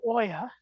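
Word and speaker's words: olla: that more great question it's o-l-l-a because it comes from the Spanish uh word for a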